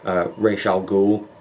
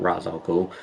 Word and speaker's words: Ra's al Ghul: I really like how Batman goes off and trains with Ra's al Ghul. That is how you pronounce it, by the way. It's not Ra's al Ghul.